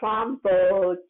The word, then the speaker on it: tromboncino: You could do I say it wrong all the time, and I'm Italian, and it kills me to say it wrong. The tromboncino, yeah, there you go.